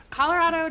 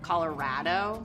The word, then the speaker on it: Colorado: Colorado doesn't really have a typical accent. Lots of people say that it has no accent, but you'll definitely get called out if you say Colorado. It's Colorado.